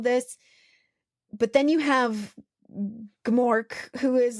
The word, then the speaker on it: Gmork: Or Gmork.